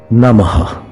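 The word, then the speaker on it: नमः: them by saying namo namaha namo namah it means salutations please note the age in namaha is a soft age namaha normal namaha you could also greet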